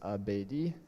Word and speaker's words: Abadi: Abadi, so it's pronounced Abedi.